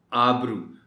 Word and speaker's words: آبرو: جا رہا ہے، آبرو۔ اور اس کا ایک اور تقاضا اس لفظ کے تلفظ کا یہ ہے کہ جو الف مدہ ہے یا الف مد آ ہے، دونوں طریقوں سے آپ پڑھ سکتے ہیں، الف مدہ جو ہے اس کو آپ ذرا طول دے کر پڑھیں گے، آبرو نہیں کہیں گے، آبرو۔ اعجاز، اعجاز۔ اب اس